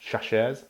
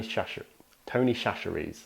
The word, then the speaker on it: Chachere's: I'm gonna say Tony C's because I don't know how to pronounce the second part. Chachere's, Tony Chachere's.